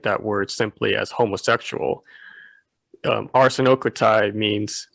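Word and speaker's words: ἀρσενοκοῖται: or Hebrew, I mean, she's mispronouncing the word. Oh no. It's arsenokotai.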